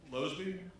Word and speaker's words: Losby: Losby? Pronounce that right?